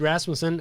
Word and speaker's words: Rasmussen: And did I say Rasmussen? Is it Rasmussen? Rasmussen? How do you pronounce it? Rasmussen it is. Good Danish name.